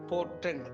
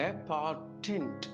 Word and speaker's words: portent: Patent அப்படின்னு ஒரு வார்த்தை PORTENT potent அப்படின்னு நம்ம we tend to spell pronounce அது அப்படி இல்லை patent என்று சொல்ல வேண்டும்.